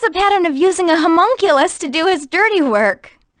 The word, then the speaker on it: homunculus: So he has a pattern of using a homonucleus to do his... Homonucleus. How do you say it? Homunculus? So he has a pattern of using a homunculus to do his dirty work.